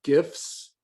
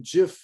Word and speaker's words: GIF: these people were pronouncing jiff incorrectly and he said he didn't care so the guy who invented the coding for gifts said it's okay to say gif or jif okay so what application